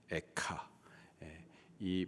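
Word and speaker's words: אֵיכָה: 라는 단어로 시작을합니다 슬프다라는이 단어의 히브리식 발음이 카요 에카이 발음을 가져온 것이 자음에서 가인 거죠이 가의 저자는 예레미야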